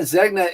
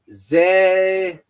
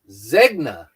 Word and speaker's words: Zegna: Brad, my man, Zegna is pronounced Zay It's pronounced Zegna. I don't see your G in it. You're forgetting your G.